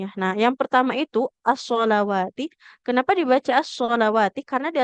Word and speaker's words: الصلوات: Nah, hati-hati cara bacanya jangan sampai sama antara as-sholawati dengan as-sholati. Nah, soalnya kadang agak terkecoh di sini ya. Nah, yang pertama itu as-sholawati.